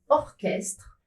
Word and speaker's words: orchestre: La majorité des mots qui sont des exceptions, qui s'écrivent C plus H mais ne se prononcent pas che, viennent du grec. Ils sont prononcés que.